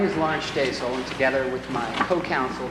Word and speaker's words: Shtasel: LAURENCE SHTASEL: May it please the Court, my name is Laurence Shtasel. And together with my co-counsel Deval Patrick-- NATHANIEL JONES: What's the pronunciation of your name, sir?